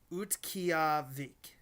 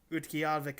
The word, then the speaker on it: Utqiagvik: Utqiagvik, Utqiagvik, Alaska. That's spelled UTQ.